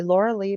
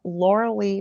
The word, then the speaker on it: Lorilei: the bottom i'm pointing to it it'll say laura lee host of the angel rock if you look up laura lee and i'll spell it for you again